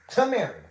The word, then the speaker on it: Tameri: If you can use your two eyes, it says Tamary. It is spelled T A M E R I. Tamary.